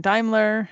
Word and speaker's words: Daimler: full name is daimler um d-a-i-m-l-e-r that's how you spell it's german so nobody spells it like it's pronounced um but i'm on